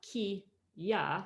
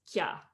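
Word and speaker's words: きゃ: So when you see this kya, it's not ki, ya, it's 1 syllable, that's kya, kya.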